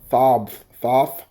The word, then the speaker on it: Thoth: So this wizard, Thog, is Thoth, like it's spelled like a moth, Thoth, Amon.